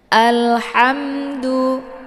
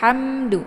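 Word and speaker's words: الْحَمْد: Alhamdu, alhamdu, jangan hamdu, ham ditekan huruf mimnya ya, tapi jangan dibaca hamadu, hamadu, keluar bunyi me.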